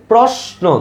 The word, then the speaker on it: প্রশ্ন: লেখো তালবস আর দন্তন্য এখন আমাকে বলতো ভাইয়া এই যে এটা উচ্চারণ করো উচ্চারণ করার সময় দেখো কোন কোন জায়গায় থামতেছে প্রশ্ন কয়টা অক্ষর আছে দুইটা অক্ষর আছে প্রশ্ন তাইলে প্রসে থামতেছে না প্রশা বলো প্রশ্ন শেষে একটা অ আছে না প্রশ্ন যত খুশি তত লম্বা